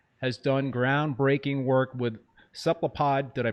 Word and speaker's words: cephalopod: Has done groundbreaking work with cephalopod, did I pronounce that right?